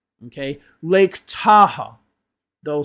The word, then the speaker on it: Tahoe: Lake Tahoe. They'll say it like that when it's Lake Tahoe. Okay? Now, Lake Tahoe ends in an E, but the sound is still an O.